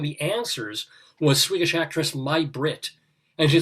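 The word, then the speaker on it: May Britt: because one of the answers was swedish actress my brit and she said well it's spelled may but it's actually pronounced right she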